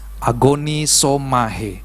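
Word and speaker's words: ἀγωνίζομαι: Bahasa aslinya adalah agonisomahe, tapi tulisannya agonisomae, tapi dibacanya agonisomahe. Artinya saudara bertanding, berjuang, dan mempergumulkannya.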